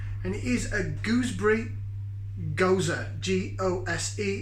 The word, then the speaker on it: Gose: their salty kiss and it is a gooseberry gozer g-o-s-e it's pronounced goza it's another like there's a berliner vice this